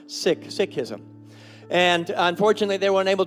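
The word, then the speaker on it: Sikhism: seek as we know it but it's actually pronounced sick sism and unfortunately they weren't aable to to make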